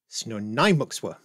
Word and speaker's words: Snuneymuxw: First Nation called the, I even wrote this down in IPA to make sure I get it right, Snonaimuxwa, which I hope that's somewhere close to correct.